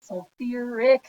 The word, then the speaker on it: sulfuric: exception to the rule so we need to add in that extra syllable acid sulfuric acid you just needed to add in that extra syllable with sulfur now unfortunately sulfur is